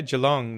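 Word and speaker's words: Geelong: Melbourne nice nice yeah and that's fairly near jalong am I pronouncing it right Jong yeah yeah yeah jalong that's uh 25 minutes away yeah yeah so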